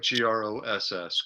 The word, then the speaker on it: Gross: your last name again it's pronounced just like g-r-o-s-s gross gross gross okay i